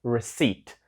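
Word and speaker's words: receipt: Inside The Card reside погляньте на це слово там і Літера п але ми її не вимовляємо це слово читається як reset reset - це чек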